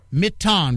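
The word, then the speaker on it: Mitton: I pronounce it Mitten, but it's his name. He gets to pronounce it any way he wants. It's M-I-T-T-O-N. Robert Mitten, right? Mitten, right, Robert? Yep. Mitten.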